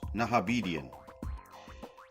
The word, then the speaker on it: Nahabedian: Recorded this episode May 8th, 2020, sober, with a very interesting gentleman by the name of Charles Nahabedian.